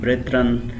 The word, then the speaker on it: brethren: तो प्रोनाउंसिएशन की अगर हम देखें कि इसको कैसे प्रोनाउंस करें तो साउथरन इसी तरह ब्रेथरन.